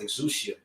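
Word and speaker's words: ἐξουσία: Now, particularly in this verse, the word power in the Greek, that's pronounced exousia.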